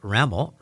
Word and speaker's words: Ramel: uh District representative raml rhymes with camel and it's nice to